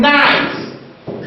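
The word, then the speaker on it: knight: It can be realized by KN as in night. Night. In this case, the K is silent.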